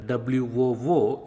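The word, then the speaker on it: वू: And oo is pronounced like WOO in wool, wool, wool, woo, wool.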